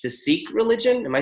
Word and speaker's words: Sikh: I don't know how to say it but it's spelled s AI k H the Sikh religion am I saying that right absolutely that's